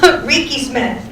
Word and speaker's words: Rieke-Smith: I said it wrong anyway, even though you just told me. Rieke-Smith. Say it with me one more time, Rieke-Smith.